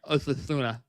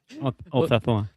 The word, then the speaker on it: Osasuna: Yeah, it's got to get the Madridista pronunciation there. Osasuna. Osasuna.